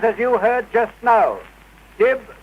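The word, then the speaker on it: DYB: Dib, dib, dib. It is spelt D-Y-B.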